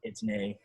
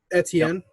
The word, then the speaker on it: Etienne: You got fucking Itney. However you say his name. Etienne.